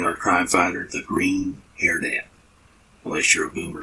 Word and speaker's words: Hairnet: That's Hairnet, the Green Hairnet. I'm sorry, Mr. Welch. I thought I heard someone pronounce it Hairnet. Yes, I've heard that too, but it's Hairnet.